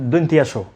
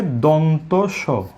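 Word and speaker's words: দন্ত্য স: তারপরে এই বর্ণটিকে বলে থাকেন দন্তিয়াস। যেভাবে দন্তিয়ানো বলে, একইভাবে ভুল উচ্চারণ হিসেবে দন্তিয়াস অনেকে বলে থাকেন। তাহলে আমরা একটু আগে শিখেছি, এখানে দুটি বর্ণের কিন্তু উচ্চারণ আমরা শিখে নিয়েছি, যে এটাকে বলবো মূর্ধন্য স, মূর্ধন্য ন, মূর্ধন্য স, মূর্ধন্য স। আর এটির নাম হবে দন্ত স।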